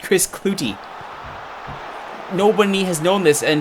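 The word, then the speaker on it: Klute: well that was a that was unexpected Chris clut which is hilarious actually apparently only just this year uh the MLS broadcast teams around the league discovered that Chris clut it's actually pronounced Chris clouty nobody has known this and apparently he's just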